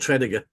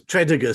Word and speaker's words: Tredegar: in the East End they're called treiger treiger well yeah yeah so that's the Lord Tre and the square is referred to as treder Square because they don't they they don't they've lost the pronunciation I'm shame well to